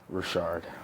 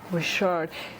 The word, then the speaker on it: Ri'chard: Robert Ri'chard. Ri'chard. So is Andrew your middle name? Yes, it is. So how are you going to say all that exotic stuff, Ri'chard, but miss out on the most beautiful name, Andrew?